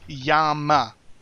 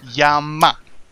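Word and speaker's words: se llama: como seiyama como say Yama you have to pronounce the elves right Yama it was good times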